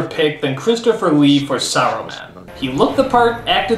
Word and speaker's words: Saruman: Only because Aruman is kind. It should have been his friend Aruman. How long since Aruman? Aruman. Saruman, you idiot! It's pronounced Saruman! The S isn't silent!